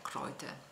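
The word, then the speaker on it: Kräuter: a base di erbbe in tedesco si dice croit scritto crouter con i due puntini sulla A e la pronuncia è croite specialmente in questa regione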